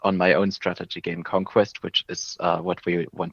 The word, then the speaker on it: Konkwest: this without a transcription, it is called Conquest, but it's not spelled like the English word conquest. Yeah, It is Konkwest, so very much like a phonetic spelling. You spell it like you say it, not like you would regularly spell it with the Q and the C.